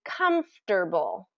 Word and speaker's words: comfortable: four syllables comforable um the way it's written um native speakers reduce that to comfortable com and that that middle sound is a little awkward because we have the F and the T that come right after each other comtable comfortable comfortable are